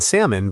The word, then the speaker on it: salmon: We never pronounce the L in salmon, but it sits there looking fancy.